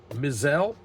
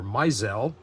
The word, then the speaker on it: Mizell: batting ninth vinegar bent mizelle or misel I've heard it pronounced both ways uh watching old film clips but I'm going to go with myel at least I'm going to try to anyway in 1960 he was